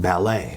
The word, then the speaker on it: ballet: And then sometimes it's pronounced mallet, but sometimes it's pronounced ballet because it's French.